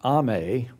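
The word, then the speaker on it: אם: It's the Hebrew word em. It's pronounced amay and it means a mother.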